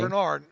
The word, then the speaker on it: Greenard: a higher floor than, is it Greenard or Grenard? I don't know how to say his last name. Grenard. Grenard, okay, yeah.